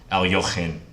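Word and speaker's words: Alekhine: That aloe vera's name was Alohin. Alohin. Shout out to Alexander Alekine, or, you know, the more close to correct pronunciation, Alyochin. You gotta get a lot of to even attempt a pronunciation.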